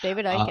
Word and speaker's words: Icke: If you talk to guys like David, I don't know if it's pronounced Ike or Ick or David Ike. Icke, absolutely. Okay.